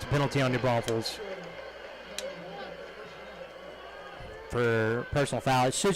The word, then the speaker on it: New Braunfels: There is only one S in New Braunfels, and you'll find it at the end.